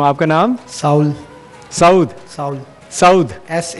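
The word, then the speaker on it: Saul: साउल। साउद? साउल। साउद, एस ए यू एल, साउल। साउल यानी सोल की जो spelling है उसी को?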